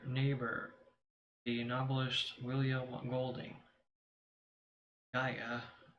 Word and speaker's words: Gaia: Gaia, pronounced Gaia, the earth goddess of the early Greeks.